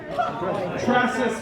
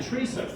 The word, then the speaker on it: Tressa: And whose name did he mispronounce? Tressa Smith. You said Teresa.